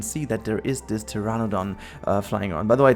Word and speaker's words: Pteranodon: that there is this Pteranodon flying around. By the way, this one is also really annoying me because of the P at the beginning of the name and why you don't pronounce that.